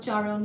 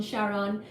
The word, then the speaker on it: Charon: name Charon Charon Chon Charon Chon however you want to say that word c h a r